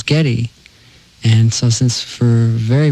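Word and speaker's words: Geddy: And uh you know, when I was young, I was born Gary, but when she pronounced it, everyone thought it was Getty.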